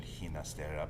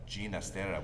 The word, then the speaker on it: Ginastera: with the spanish pronunciation ginastera but ginastera with a g like george to reflect his italian heritage and again he was